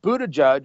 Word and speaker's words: Buttigieg: It's pronounced Buttigieg.